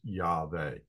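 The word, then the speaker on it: Yahweh: had about you know some Scholars say it's a wow sound and some people say it's a v sound um but a more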